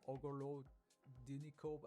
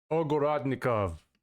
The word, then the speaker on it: Ogorodnikov: Interestingly, Dmitry Ogorodinikov, I still can't pronounce his name, is like Ogorodnikov.